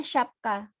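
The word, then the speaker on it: şapka: She ini S yang berekor. S yang berekor ini dibacanya she. She. Jadi kalau ini kata ini dibacanya syapka.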